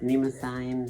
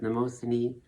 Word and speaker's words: Mnemosyne: one goddess of memory pronounced many ways in the show sometimes pronounced nemo sign sometimes mimosa you can choose yourself um i like that